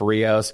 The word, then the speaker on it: Rios: one for a minute, but Chef Rios, Jacob Rios from Union, New America, Tampa. I pronounced that correctly, right?